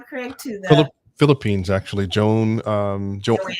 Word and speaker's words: Joan: Joan, Joanne. I'm gonna call her Joan because it's spelled like Joan. And Yeah, she made that note, spelled like yeah. Joan, pronounced like Joanne.